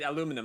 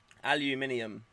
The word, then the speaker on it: aluminium: i can't pronounce it i usually say aluminum i think that's u.s right yeah and then we say aluminium yeah okay that's yeah